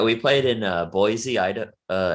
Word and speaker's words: Boise: play it in uh boise ida uh as they they say boise uh everybody else is boise but in in that city they pronounce it boise we played like in